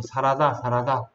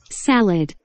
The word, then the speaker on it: salad: 일본 사람들은 이걸 발음을 샐러드라고 발음 못해서 사라다. 사라다 이렇게 발음하는 사람들. 한국 사람도 이걸 따라서 사라다 하는 사람들이 있는데 사라다가 아니고 뭐다? 샐러드. salad.